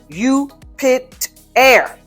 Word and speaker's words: Jupiter: i have found that the best pronunciation is mostly definitely you pit air jupiter this is based on one of the latin pronunciations of jupiter and leads to a